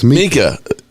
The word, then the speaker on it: Micah: I'm just saying she pronounces it Mika, so I'm going to pronounce it the same way because she knows his people.